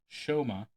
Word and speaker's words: Soma: Hungarian magician Soma, pronounced Shoma, captured the 2009 FISM Grand Prix staged championships.